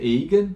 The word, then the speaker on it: eigen: É a função eigen, ou eu imagino que essa palavra deve ser originalmente de origem germânica e talvez a pronúncia correta seja eigen, né? Mas acredito, mas pelo que eu saiba, tá, a pronúncia corrente é eigen, tá?